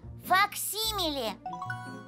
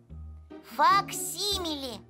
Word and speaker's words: факсимиле: и так первое слово факсимиле ударение на второй слог так называют точную копию рукописи рисунка подписи или чертежа а вот как пишется это сложное слово факсимиле следующее деловое слова договор